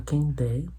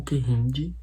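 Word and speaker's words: Kehinde: Logo no início a gente conhece essa protagonista que chama Quem der o que rinde. Eu já ouvi as duas pronúncias. Eu prefiro quem der.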